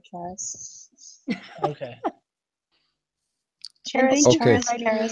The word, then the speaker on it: Charis: Actually, there are Charis. 4 legit pronunciations. I go by Charis.